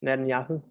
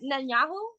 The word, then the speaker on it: Netanyahu: about I'm sorry I've never been able to pronounce The Minister's name um Nan yahu yeah yeah I don't want to it up Netanyahu Netanyahu yeah Netanyahu okay what I hear about